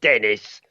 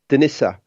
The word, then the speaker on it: Denisa: It's not Dennis, like I might say in England. You know what I mean? It's Denisa.